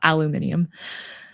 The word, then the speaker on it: aluminium: Yeah, it's crazy to like spell it differently and pronounce it differently. I used to think it was just pronounced differently, and I was so confused because I was like, there's not even an I there, but the way you all spell it makes sense to say it that way.